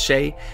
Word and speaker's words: XCI: Hey everybody, XCI here, pronounced Shay, and I'm going to be auditioning for AngelArts' Harry Potter Tabletop campaign.